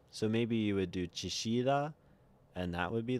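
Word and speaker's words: Chillida: Uh, so that's like a double L, which means you could pronounce it depending on your accent as like an SH or as a Y.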